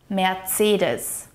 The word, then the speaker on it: Mercedes: It is also important to note that the C sound here in Mercedes is more like a harsh TS sound. Tss, tss. Mercedes. Mercedes Benz.